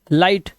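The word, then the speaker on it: light: अब यहाँ पर देखो एग्जाम्पल्स आपके सामने, ये देखो आई के बाद जीएसटी, तो जीएच साइलेंट है तो ये पढ़ेंगे फाइट, लाइट, राइट, नाइट, माइट और टाइट।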